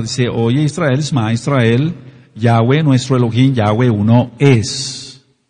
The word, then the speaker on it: Yahweh: que no tiene el pacto de la circuncisión yahwe que así se pronuncia por lo que ya expliqué no puede